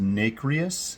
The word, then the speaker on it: nacreous: just a little aside it's pronounced nacrius but my 1987 American